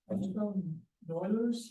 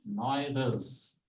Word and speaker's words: Noether: Noilers? Oh, okay, I might be wrong in pronouncing it. Noether's. Noether. She was a German, so she.